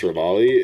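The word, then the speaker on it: Revali: at one point where I called Rabali Ravioli and the amount of comments that I got from people who genuinely think that I misspoke and that I don't know that it's pronounced Rabali is insane.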